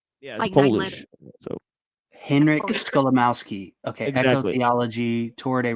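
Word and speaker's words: Skolimowski: It's just it's spelled exactly how it sounds. Gotcha. It's like my last name. Yeah. So, Henrik Scholamowski.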